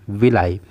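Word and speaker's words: villi: तो उसको हम कहते हैं विलाई। इसको हम लोग विलाई प्रोनाउंस करते हैं या फिर इसको विली भी प्रोनाउंस किया जाता है।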